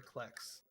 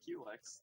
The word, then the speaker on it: Klex: Klex? I don't think I've ever heard him pronounced that way. That's how he likes it pronounced. Really? Oh. Huh. Oops. I've always pronounced it Qlex. Yeah, Yeah. same. Like a Q-tip.